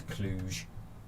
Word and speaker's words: Cluj: How to pronounce Cluj. I did this last time. It is Cluj.